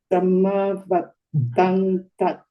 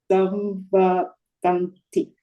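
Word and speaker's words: saṃvattanti: Samavattanati It's not the samma. It's samvattan. Samvattanti.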